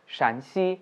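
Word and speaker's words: 陕西: One is Shǎn xī and other is Shān xī, If you pronounce them in an incorrect tone, then you might reach at a wrong destination.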